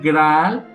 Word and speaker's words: graal: un caldero de vino la palabra grial pronunciada en francés antiguo graal que es de donde